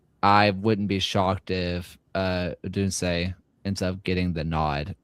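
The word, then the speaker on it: Odunze: Oduns? I think you the pronounced goalkeeper. the E, so I think it would be like Udunse, but close enough.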